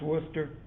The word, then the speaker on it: Worcester: worcester i know it's spelled worcester but it's pronounced worcester versus georgia and in this case the people